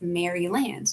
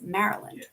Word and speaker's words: Maryland: in the states and it looks like it would be pronounced Maryland no it's Maryland so I'm always a